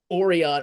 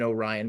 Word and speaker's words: Orion: engineered golden retriever uh the creation of uh oron actually she's an Orion because she pronounces it correctly uh tendy um who didn't